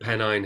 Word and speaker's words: Pennine: Yorkshire in in Pennine? Am I pronouncing that right? Yeah, Pennine Hills.